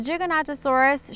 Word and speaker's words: Giganotosaurus: A Giganotosaurus should not be mistaken for a Gigantosaurus, which is a lesser-known herbivore that lived in England. So if you thought there was a pronunciation like that, you were correct. It was just a different dinosaur.